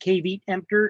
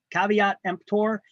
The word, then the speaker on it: Caveat Emptor: term there Caveat Emptor it's not pronounced kave empor it's Caveat Emptor it means let the